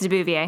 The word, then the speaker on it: de Beauvoir: I think it's de Beauvoir.